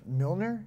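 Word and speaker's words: Mjölnir: Milner, is that how you pronounce it? Mjolnir.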